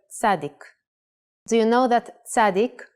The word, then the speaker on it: Tzadik: The letter Tzadik, if pronounced while putting the emphasis in the last syllable, Tzadik, means righteous person or even saint.